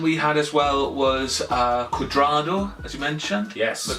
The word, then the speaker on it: Cuadrado: The other man we had as well was Cuadrado, as you mentioned. Yes. Am I pronouncing that? Yes, Cuadrado.